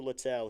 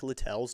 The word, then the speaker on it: Littell: And I think it is Littell because it is spelled, interestingly. The 1-1 is in the dirt ball too. Spelled Littell. So Littell. I think if it were Little, he'd probably say something and it would be Liddell then or something like